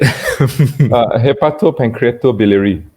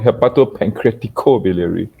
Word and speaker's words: hepatopancreatobiliary: Hepatopancreatobiliary. The Americans call it hepatopancreaticobiliary. It's always different, So actually, what does it mean, Dr.